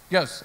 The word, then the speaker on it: Iooss: Iooss. Okay, so it's like a Y in the front.